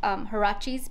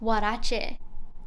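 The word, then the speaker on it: huarache: shoes they're my white harachi's hold up harachi's if you say i'm in spanish it's warache i'm just going to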